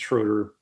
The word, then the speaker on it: Schrader: It's Schroeder. Sorry, I mispronounced the German pronunciation sometimes.